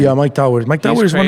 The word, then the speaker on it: Mike Towers: How do you pronounce his name? Yeah, Mike Towers.